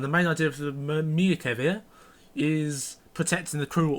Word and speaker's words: Merkava: Today we'll be having the Tier 7 MBT, the Merkava 2D, which is a premium. Let's have a look at some stats. So I will be comparing I've been told that it's pronounced Merkava, not Merkava, Merkava.